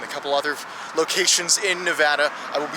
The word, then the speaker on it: Nevada: couple other locations in Nevada I will be saying Nevada because that's the way the locals say it nowadays well in